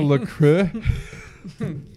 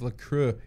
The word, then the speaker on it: LaCroix: It's not fucking French. Anyone who says it's LaCroix is a fucking asshole.